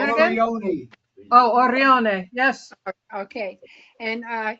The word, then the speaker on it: Orione: Orione.